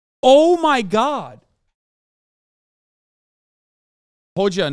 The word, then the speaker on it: Hoxha: Hoja, not Hoxha.